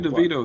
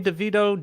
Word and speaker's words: DeVito: game and we lost Tommy is crazy Tommy deito is crazy you sayoo whatever you want to